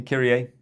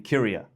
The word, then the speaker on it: Kyria: Hey, Kirier. Hey. The uh first couple of times I met you uh and we interacted, I uh pronounced your name Cura.